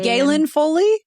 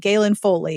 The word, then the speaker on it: Galen Foley: say her name wrong Gillian foily Jillian Foy g a l e a Galen Foley gayen yes that's how I've always said it in my head gayen Foley yeah yeah oh my gosh